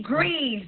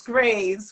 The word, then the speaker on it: Greaves: let's go Miss Patty greeves I'm saying it correctly right well it's Graves but it's okay okay